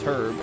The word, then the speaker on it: herb: it because who uses herb ever um and then i remember someone in my family told me it was wrong and that i was stupid the age is silent i've never heard